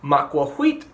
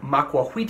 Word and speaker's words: macuahuitl: be a little confusing specifically macuahuitl does look like it sounds like macuahuitl all with an L at the end however the L is kind of pronounced silently I've heard it described as being like saying the word Atlantis without antis the TL of that